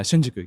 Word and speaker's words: Shinjuku: I'm like kind of doing it correctly yeah Shinjuku yeah I just feel like you know I'm proud that I'm getting the pronunciation but when I think of Japan I